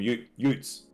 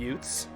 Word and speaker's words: ute: but we call them utes. It's spelled UTE.